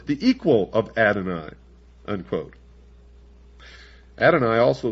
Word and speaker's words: Adonai: belief in Lucifer the equal of Adon un adoni also spelled well in the first place here it's spelled a d o n a y and